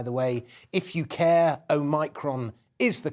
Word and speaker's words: Omicron: And by the way, if you care, Omicron is the correct pronunciation.